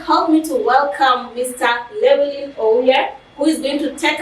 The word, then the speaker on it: Llewellyn Ouya: And by then, I got the pronunciation of the name correctly, right? Yeah. Okay. So my name is Llewellyn Ouya, and I'm a business consultant, content creator, and a medical student.